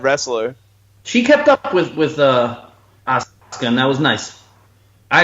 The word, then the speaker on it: Asuka: By the way, I completely pronounced Asuka's name incorrectly before. I couldn't think of how to pronounce it, and it said Asuka, but it's Asuka.